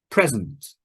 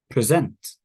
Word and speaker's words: present: to me record record present present object object so the syllable stress the stress in the word changes position depending if it's a noun or verb record present present object